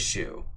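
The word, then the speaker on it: chou: and my little shoe oh it's pronounced as shoe monkey shoe my little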